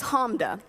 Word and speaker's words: Hamda: give me a nickname my name is Homme de 2 syllables clap it out if you need to